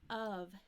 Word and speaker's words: of: of students don't know this of sounds like a short U and a V of with a V let's try this faster